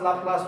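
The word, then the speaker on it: Laplace: जैसे ये पैलेस है तो पैलेस की इन्होंने क्या किया, ला पैलेस। अब पैलेस नहीं बोलते हैं हम लोग, क्या बोलते हैं, ला प्लास। ला पैलेस भी नहीं बोलते हैं, ला प्लास, ला प्लास।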